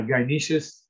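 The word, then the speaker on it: gynoecious: that's the second turn it looks difficult i actually had to learn look up to see how to pronounce it uh gyaneshas and what that means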